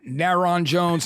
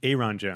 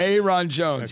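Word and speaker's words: Ayron Jones: at After Shock where I'm calling him um naron Jones nylon Jones like we like and he was funny he's got a great the correct pronunciation is Aon Jones Aon Jones yes you know he's this great black guitarist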